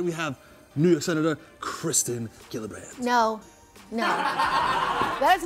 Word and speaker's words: Kirsten: So it's Kirsten. Kirsten. Kirsten, like Kir Royale, Kir.